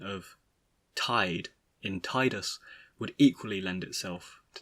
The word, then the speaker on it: Tidus: x protagonist has long been embattled between numerous pronunciations the most favored of which are either tidus or titus neither of which is particularly pleasing to the